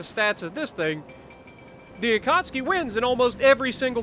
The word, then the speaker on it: Akatsuki: If you look at the stats of the Akatsuki, or Akatsuki, if that's what you want to call it, but it is pronounced Akatsuki.